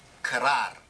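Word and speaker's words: krar: instrument this one here is called kerrar now you have to roll your r here it has six strings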